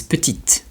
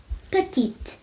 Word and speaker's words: petit: So an example of that will be the word for small which is petite. Petit petit petit.